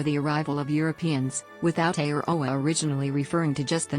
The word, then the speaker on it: Aotearoa: Aotearoa, pronounced /Aotearoa/, often translated as Land of the Long White Cloud, is the current Māori name for New Zealand.